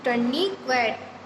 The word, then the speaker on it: tourniquet: Spelling देखिए आप, TOURNIQUET, टर्निक्वेट।